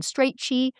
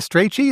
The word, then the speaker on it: Strachey: himself, you get Lytton Strachey. So some of these people are... You pronounce it Strachey, is that correct? Pretty sure. I'm English.